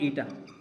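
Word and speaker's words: eta: इस सिंबल को क्या बोलते हैं? ईटा। क्या प्रोनाउंस करते हैं? ईटा।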